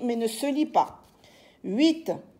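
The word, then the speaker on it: huit: 7 s e P t la lettre P s'écrit mais ne se lit pas 8 h u i t la lettre H s'écrit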